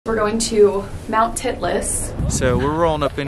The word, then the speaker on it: Titlis: we're at this place we're going to mount titlis we did ask for pronunciation guidance and that is the correct pronunciation